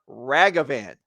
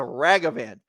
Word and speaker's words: Ragavan: paper towel Rags so the word rag you are able to pronounce that word now you imagine these rags and then just extend the word out ragavan there's no wrong of